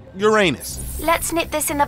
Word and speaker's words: Uranus: want a piece of uranus that's funny i don't mean to be a prude but please no jokes about uranus besides the proper pronunciation is uranus it's a dactyl sorry friday hey and